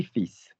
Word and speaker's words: fils: Likewise, the word for son ends in an S. You should normally in French not pronounce the consonants at the end of the letter, at the end of the word. But because it comes from Latin, like filius and all this business, we say fils.